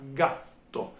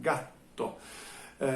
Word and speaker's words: gatto: italiano, eu vou falar gatto. Essa palavra tem dois T's e a pronúncia dá para perceber que é um pouco diferente. Tem como uma pequena pausa que acontece no meio da palavra, gatto.